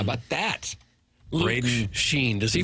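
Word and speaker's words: Schenn: How about that, Ra Sheen? Does he pronounce it or she pronounc he the proper way sheen sheen just so it rhymes in the song that we have.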